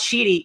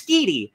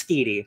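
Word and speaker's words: Schiti: I now learned the artist, Valero, it's not Sheedy, it's Skeedy. So now I know. We know how to pronounce it. It's Skeedy, because I listened to a podcast about it.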